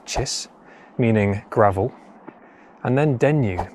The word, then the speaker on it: kis: The first one, kiss, pronounced locally as chis, meaning gravel, and then dennu, meaning deep valley with a flow of water essentially within it.